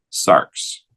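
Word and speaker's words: σάρξ: Puesto que hay una letra que representa el sonido de capa sigma, xi, x, vamos a usar esta letra para escribir cómo se pronuncia y llegamos a sarx.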